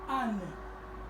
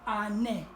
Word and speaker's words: anne: lit aussi année donc toutes les lettres doivent être prononcées dans la langue turque nous avons aussi le